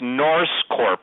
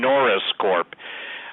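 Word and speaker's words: NorseCorp: to make this clear it's noris Corp I will spell it everybody thinks I'm saying Norris Corp okay n o r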